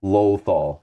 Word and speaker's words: Lothal: Lothal. Lawful? Lawful? Oh, okay. Oh, Pontus is from there, actually. Pontus knows. It's pronounced Lothal.